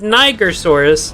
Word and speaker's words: Nigersaurus: Now, I said Nigersaurus, not the other one. Like the river Niger.